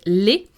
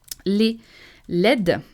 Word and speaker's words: laid: there is the word laid. Laid. I know what it looks like, but you need to pronounce it laid.